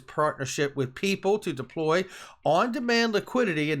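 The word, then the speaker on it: PYYPL: company p y y p l which is pronounced people okay and that brings us to this which ripple has been eyeing the men of markets due to the value of its remittance networks its partnership with people to deploy on-demand liquidity in the middle east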